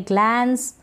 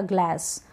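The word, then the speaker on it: gloss: रहे हैं ग्लास या ग्लास इसको पढ़ेंगे ग्लॉस क्या पढ़ेंगे ग्लॉस ग्लोस नहीं ग्लॉस इसको पढ़ेंगे ग्लिम्स ग्लिम्स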